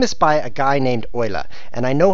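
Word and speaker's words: Euler: started this game is by a guy named OA and I know how to pronounce that because he's a mathematician it's spelled e u l e like eel except you know it's OA cuz I told you F4 now we know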